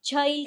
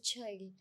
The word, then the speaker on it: Chhail: So Chail, पहले अपने name का बैकग्राउंड बताओगे, आपका नेम कहाँ से आया है? Yeah, so it's pronounced as child.